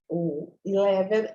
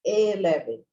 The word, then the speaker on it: eleven: O 11, a gente não pronuncia esse primeiro E como 11, não é 11, igual a gente pronuncia, por exemplo, a palavra 7-Eleven aqui no Brasil e fala 7-Eleven, não é isso, é 11, 11.